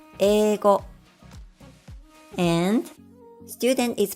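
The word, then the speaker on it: 英語: For example, the Japanese word for English is pronounced as eigo, and student is pronounced as seito.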